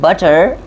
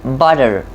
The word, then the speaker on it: butter: write double t but in pronunciation you have to say double d so t between our two vowels sound like as a d now a t between